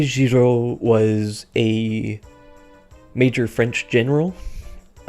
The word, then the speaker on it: Giraud: The D is silent because French pronunciation rules, which is most likely, considering what Kaga is prone to reference, in reference to a man by the name of Henri Giraud.